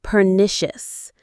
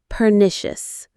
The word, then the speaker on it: pernicious: Its influence can be pernicious. Let's try that one. Peritious. Per nicious. Stress on the second syllable.